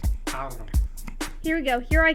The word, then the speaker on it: Carlos: Gotta roll your R's. Carlos.